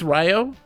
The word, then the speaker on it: Rue: gumbo audio Eric enjoy Rue is pronounced more like Ryu Ryu Ryo it's Ryo it smells like Ryo